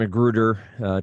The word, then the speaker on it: McGruder: least are I mentioned McGruder to actually pronounce the r at the end of that name uh any you have